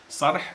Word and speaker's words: Sarh: And I said that in the hieroglyphics, sarh is exactly pronounced like that.